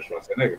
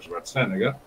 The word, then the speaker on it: Schwarzenegger: Fue gobernador, igual que Schwarzenegger, que todos pronuncian Schwarzenegger, pero Schwarzenegger, que no hizo mala gobernación.